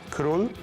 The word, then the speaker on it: król: So it's, stay with me, król. Król. Król. It's easy. Strzelców. Okay. Strzelców. Strzelców. Close enough. Król Strzelców.